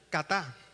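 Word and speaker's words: κατά: No obstante, además de esto, como se expresa esta palabra en la escritura original griega, tiene un prefijo que se pronuncia katá, y luego la palabra.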